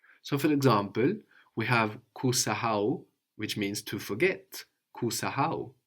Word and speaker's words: Kusahau: So in French, I guess you have a silent H or a very weak H, and that's coming across a lot in Swahili. So you want to be careful to pronounce it, to actually pronounce it.